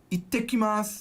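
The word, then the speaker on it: いってきます: You say, ittekimasu. I'll be back. Ittekimasu. There's a double T.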